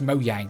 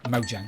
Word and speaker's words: Mojang: Jane what is it mo yang I've heard Susumu says mo yang and it just sounds wrong although the J is probably pronounced as a Y somewhere in the world it's Mojang I'm gonna call it mo